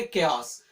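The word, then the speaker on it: chaos: Pronunciation ध्यान से रखेंगे, केओस।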